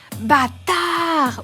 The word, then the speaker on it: bâtard: faut se pencher sur l'interjection bâtard qui se prononce d'une façon bien particulière bâtard ou dans l'allocution al